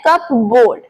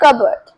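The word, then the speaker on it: cupboard: तो बहुत सारे लोग इसे बोलते हैं कप बोर्ड या कप बर्ड, बट इसे बोलते हैं कबर्ड। कबर्ड, सही प्रोनाउंसिएशन है कबर्ड।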